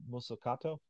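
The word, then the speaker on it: Mazzucato: could never pronounce her last name so Marana masato yeah yeah Mariana muscato did I pronounce it right yeah yeah she teaches at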